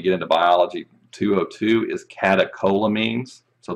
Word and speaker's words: catecholamines: into biology 202 is catecholamines so the ch there is pronounced like a k that's not um uncommon